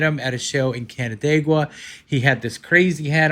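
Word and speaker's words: Canandaigua: Yeah, Did I say it right, Canadaigua? Yeah, Canadaigua, that's right.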